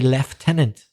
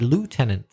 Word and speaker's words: lieutenant: have changed but in Canada they used to say leftenant whereas in the USA they said lieutenant ah okay so the